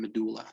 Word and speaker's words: medulla: parts right which are the cortex and the medulla that's the pronunciation medulla okay and uh well uh